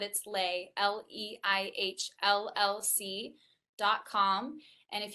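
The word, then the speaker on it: Leih: little e i h it's german but it's pronounced dutch but it's lay l-e-i-h-l-l-c dot com and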